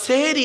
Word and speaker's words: সাহারি: দন্তের স্বয় আকার আচ্ছা সেহেরি আর সাহারির মানেটা কি সিনে জের দিলে সিহিরুন মানে হলো জাদু করা আর সিনে জবর দিলে সাহারুন মানে হলো রাতের শেষ অংশের খাবারকে আরবিতে সাহারি বলে সেহরি নয় তাহলে শব্দটা কি হবে বাবা সেহরি না সাহারি তাহলে ভুলটা ভাঙলো খবরদার আর বলবেন না সেহরি আমার মা বোনরা সেহরি বলবেন না সাহারি বলবেন আরেকটা কেমন টাটকা ভুল